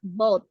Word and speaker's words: bought: Nah, cara membacanya bought ya, walaupun tulisnya ada GH-nya. B-O-U-G-H-T. Jadi cara membaca GH-nya itu tidak dibaca sama seperti daughter tadi.